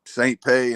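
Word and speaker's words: St. Pé: yeah yeah it's it's saint pete and it's spelled st period pe there's you know like a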